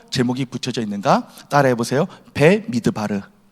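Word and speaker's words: במדבר: 배미드바르.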